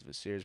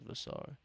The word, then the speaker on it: Vassar: As Vassir's playing, Vassar, excuse me. See, I fell into the rhythm of calling him Vassir, but I believe his name is Vassar. That's how you pronounce it.